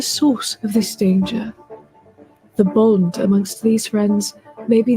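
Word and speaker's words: Beau: is spelled B-E-A-U, just like yourself.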